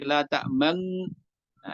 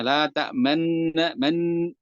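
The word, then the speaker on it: لا تأمنّا: Jangan sampai terlihat berbeda bunyinya. Ini catatannya adalah jangan sampai berbeda bunyinya menjadi la ta'man. Nah, ini beberapa ya masih baru belajar biasanya terlalu berat di situ sehingga membacanya la ta'man man, kalau menekan man gitu. Maka sekedarnya saja selayaknya asalnya yaitu dengan dhammahnya la ta'manna, tidak berlebihan dalam membunyikan dhammahnya itu suara dhammah ya, apa isyarat dhammah.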